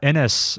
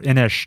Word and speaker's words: Inis: games we brought up uh inis or inish depending on how you pronounce it on this very one